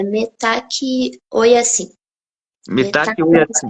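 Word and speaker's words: Mitakuye Oyasin: É assim que pronuncia? É metaqui, oi assim.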